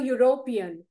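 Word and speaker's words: European: युरोपियन आता बघा युरोपियन तुम्हाला दिसतंय की तिथे स्पेलिंग इ ने चालू झालंय मात्र त्याचं प्रोन्सिएशन कशाने चालू होतंय यु य य र लव श चा य ने चालू झालंय बघा ते खाली कॉन्सोनंट आहे म्हणून त्याच्या आधी आपण अ लावायचं ही इज अ युरोपियन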